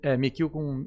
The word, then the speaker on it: Michio: Mikio e se escreve Michio.